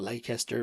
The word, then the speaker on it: Leicester: It's spelled Leicester, but I think it's Leicester, and mozzarella.